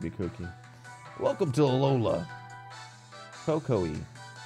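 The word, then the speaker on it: Kukui: Cocoa-y is how it's pronounced. Cocoa-y. Really? Cuckoo-y?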